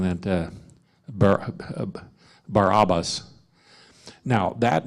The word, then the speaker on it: Barabbas: So symbolically, the murder or this insurrectionist Barabbas, as I would actually pronounce it, because all A's are O's type sound, Barabbas means the son of the Father.